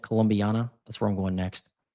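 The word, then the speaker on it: Columbiana: Colombana County, is that how you say it? Colombiana.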